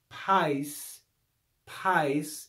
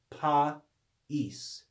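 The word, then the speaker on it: παΐς: above a vowel means so this is not pais pais it's not a one-syllable word with a diphthong it's two syllables there's a division between these two vowels and we would read it read this word correctly in two syllables as pa es pasis pa es um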